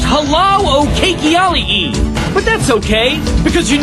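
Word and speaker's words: hālau o keiki: Can you say halau o keiki? No, that's not quite right. Try it again. I'm sorry, your pronunciation's way off. It's pronounced halau o keiki.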